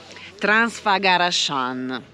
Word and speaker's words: Transfăgărășan: perché è uno scioglilingua transfagaran così credo che si pronunci detto bene primo colpo